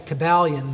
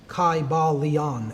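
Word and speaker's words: Kybalion: would have been pronounced in the ancient greek language in which there was no like short y sounds you know it would have been a long i sound chi ba leon and every syllable would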